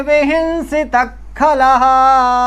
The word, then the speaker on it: विहिंसितः: विहिंसितः खलः, हिंस्रस्वपापेन विहिंसितः देखिए विहिंसता के बाद विसर्ग है, आगे खा रहा है, का खा के पहले यदि विसर्ग हो तो वो क्या हो जाता है, जीवामूलित, माने आधा विसर्ग जैसा उच्चारण करना, विहिंसित खला, विहिंसित खला। अब विहिंसिता खला ऐसा नहीं बोलना है, ठीक है, आधा विसर्ग जैसा उच्चारण करना।